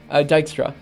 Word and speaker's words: Dijkstra: see that's something I don't know how it's pronounced at all I'm sorry Dijkstra yeah okay this is fine I'll try to